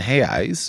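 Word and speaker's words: reais: while my wealth and hey eyes which is the the Brazilian pronunciation for the Brazilian real while my wealth in heis has remain stable or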